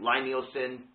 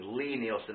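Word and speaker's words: Lie-Nielsen: going to be the LI neilen excuse me Lee Neilon I heard that I pronounced it wrong Lee Neilon veritos and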